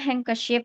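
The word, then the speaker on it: handkerchief: Nah, hanker shift itu kan sapu tangan ya. Nulisnya kan agak sulit ya. H A N D H terus kayak gitulah ya. Nah, tapi cara bacanya hang ke ship gitu.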